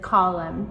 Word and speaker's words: column: And it's the same thing with column, too.